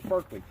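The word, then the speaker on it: Berkley: pound extra tough no not trilene it says berkeley i've been getting that wrong every one of these giveaways i'm saying the pronouncing the name of the product wrong so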